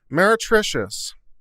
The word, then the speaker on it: meretricious: vocabulary what is this word and how is pronounced meritricious meretricious okay this is fun uh there's there's two